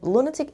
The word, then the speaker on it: lunatic: on the first level and lunatic again the stresses on the first level an extremely crazy person